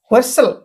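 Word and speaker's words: whistle: आगु को पड़ी जिबा तो आगे देखंतु वर्तमान व्हिसल एठी डब्ल्यू आर ई ओके रे रे डब्ल्यू टा एठी साइलेंट अछि ओके एठी आर ई रु पढिबा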